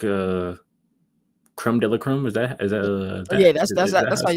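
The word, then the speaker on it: crème de la crème: Uh, you know, they're supposed to be one of them teams that's like uh creme de la creme.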